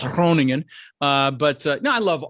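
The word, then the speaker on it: Groningen: but my family's in kroningen the G is like it's hard to pronounce kroningen uh but uh no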